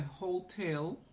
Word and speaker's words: hotel: good okay remember the hotel is pronounce the H is pronounced like like Jota in Spanish Hotel okay number three